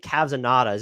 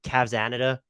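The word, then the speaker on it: Cavsanada: me up am I supposed to like I pronounce it Cavs and natas it's supposed to be cavsanita yeah I go Kazama that's that's usually how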